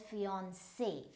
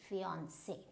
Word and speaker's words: fiancé: So again, this is an E, the letter is E, but we will pronounce as fiancé, fiancé, right?